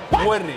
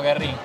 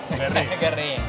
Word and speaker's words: Guerrín: Ni Werrin, ni Werrin, Werrin, con acento en la U. En el barrio le decimos Guerrín. Guerrín.